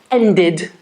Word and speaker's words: ended: Yes, we add a syllable. End, ended, ended. Let's look at an adjective, for example, excite.